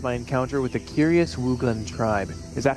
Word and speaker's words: Wooglin: have passed since my encounter with the Curious wugan tribe is that how you pronounce it wugan wugan thank you and I find myself mesmerized